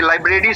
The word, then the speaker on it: liber: इसका प्रोनाउंसिएशन है लाइबर, ऐसे करके लिखिएगा, लाइबर।